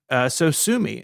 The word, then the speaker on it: Sosumi: And so he came up with a new name, Sosumi. It's spelled Sosumi. So it doesn't look like Sosumi, but it sounds like Sosumi.